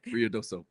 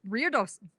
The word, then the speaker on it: Ruidoso: Ruidoso. Ruidoso.